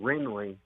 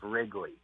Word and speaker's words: Wrigley: saying her name wrong I was saying Ringling instead of Wrigley wow how I came